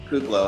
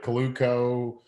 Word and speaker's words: Kuclo: you get it's uh they usually throw an extra l in there like coluco or the mixed l